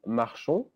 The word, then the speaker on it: marchons: Then it's nous marchons. O and S in French is just pronounced O. You don't pronounce the S.